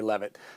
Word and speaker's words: Leavitt: Is it Leavitt or Leavitt? How do you pronounce it?